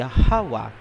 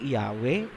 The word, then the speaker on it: Yahawa: Ang pangalan ng Ama ay Yahawa. Hindi Yahwe, hindi Jehova, hindi Ahaya, hindi Yahova at lalong hindi Jesus Christ.